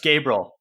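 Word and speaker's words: Gaebril: word for some reason lord gabriel just gabriel yeah yeah not another syllable there yeah caden what did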